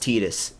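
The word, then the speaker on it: Tidus: theme in Final Fantasy 10 but instead it's pronounced tetus it's like they came so close to having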